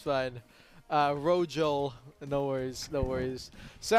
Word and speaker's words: Rojo: It's Abyssal, Rojo, and Verde. So it's all good.